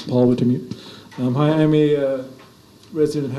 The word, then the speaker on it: Wintermute: Good pronunciation, that's correct. It's Paul Wintermute.